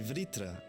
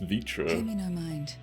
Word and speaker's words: Vritra: welcome to call me vritra if you prefer they're actually pronouncing the oh no I thought it was just vitro I nearly accompany them